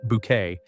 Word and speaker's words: Bucket: social climbing antics of Hyacinth Bucket pronounced bouquet as she hilariously tried